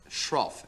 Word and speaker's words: shroff: I can't even pronounce it. Shroff.